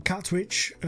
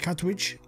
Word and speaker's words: Katwijk: Then Katwijk, I think that's how you say it, Katwijk.